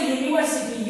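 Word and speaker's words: university: लगाएंगे क्यों नहीं लगाएंगे क्योंकि यू वाई का उच्चारण हो रहा है तो जिस जगह पे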